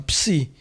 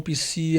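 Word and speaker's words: Ψ: Se escreve assim, ó, Psi. E ele é aquela letrinha que já está no português também, de psicologia. Ele é transliterado como se fosse um PS, né?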